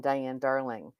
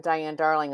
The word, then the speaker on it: Diane Darling: I rarely say hi, I'm Diane Darling. I say I'm your speaker today with a pause. My name is Diane with a pause. Darling, if I don't put the pause in there, I get Darlene.